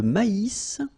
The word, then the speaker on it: maïs: L'avoine, le blé, here, accent aigu, et le maïs, so here you get this tréma, so maïs, maïs, and then you pronounce the final S, maïs.